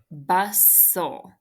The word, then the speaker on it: bustle: t good all right bustle that one is an exception because you don't hear that t so bus is closed syllable and then yes constant l e exception cross off those two silent letters the T and the e okay and